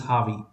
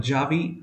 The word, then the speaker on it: Javi: And I used to call him Javi, and he had corrected me initially. He was from Spain, I believe. Yeah, Spain. So the thing is, J is generally pronounced as H over there. That's why it's Harvey.